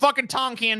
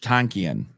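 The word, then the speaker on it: Tankian: tonen has been called quit calling tonen dude me nuts looked it up and how to the how to pronounce doc says Serge Hold Up Hold let me let me just hear it again let me double check okay yeah Serge tanken okay it's like almost in between the two okay I got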